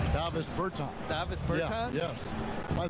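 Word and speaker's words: Dāvis Bertāns: life, Davos Bertans. Is that how you say his name? Davis Bertans.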